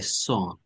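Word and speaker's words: son: সকালবেলায় I drop মাই সন দেখেন শব্দটা আসলে সান হয় উচ্চারণ কেমন আমরা সন বলি অনেকে এখানে ছেলেদের মানে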